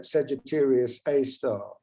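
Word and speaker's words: Sagittarius A*: galaxy, lurks a very interesting supermassive black hole pronounced Sagittarius A star.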